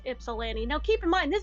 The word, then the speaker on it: Ypsilanti: I can't even say it like they're that wrong, but I'm like, no, you don't pronounce the Y like that. It's Ypsilanti, not whatever the fuck you just said.